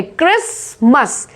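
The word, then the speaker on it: Christmas: Next word देखो क्रिसमस, जो कि अब आने ही वाला है, तो इसमें टी साइलेंट है, क्रिसमस, क्रिसमस, टी साइलेंट है इसमें।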